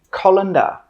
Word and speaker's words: colander: This is a colander, colander. 3 sounds, colander, colander.